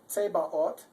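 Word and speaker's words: Zebaoth: This is a Tsebaot, and that's because the Z is always pronounced like a TS.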